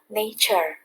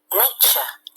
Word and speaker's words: nature: Hello everyone, chúng ta sẽ học bài cuối cùng trong tiếng Anh 6 ha, Unit 12, Nature.